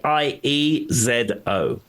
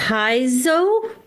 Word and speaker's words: piezo: P-I-E-Z-O. P-I-E-Z-O. How do you pronounce that? Paizo? Yeah, so that is the US way of saying it. In the UK, we say piezo.